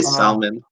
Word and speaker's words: salmon: I would say salmon. Yeah, I say salmon. Salmon is what I say. I say salmon. Yeah, you don't pronounce the L.